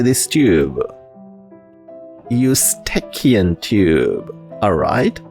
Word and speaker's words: Eustachian: Eustachian tube. Alright? Eustachian. So the E is silent. Over here we start with Eustachian. This CH sound like K.